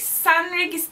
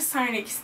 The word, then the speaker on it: St Regis: kadar erken gittim etkinlik s regis diye okunduğuna inandığım bir oteldeydi yani ST regis Bence sen regis diye okunuyor Evet Yaklaşık 3